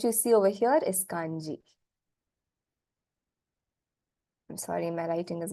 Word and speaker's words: kanji: pronunciation is so different Chinese say hanzi the Japanese have taken all Liberty and change them to the way they understand it best which is Kani so it by no